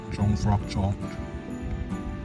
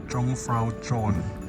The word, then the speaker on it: Jungfraujoch: I finally arrived here at Jungfraujoch In fact, I don't know how to pronounce it in German. I overheard others pronounce... they don't pronounce the "J" sound They pronounce something like "own" Anyway, I don't speak